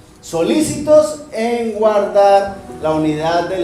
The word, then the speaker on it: solicito: La Paz cuando yo Solicito algo estoy pidiendo algo pero este solícito tiene una tilde en otro lado y se pronuncia diferente Ese solícito es que